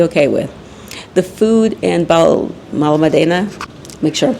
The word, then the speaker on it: Benalmádena: The food in Benalmádena, make sure I'm pronouncing it correctly. Benalmádena, yes.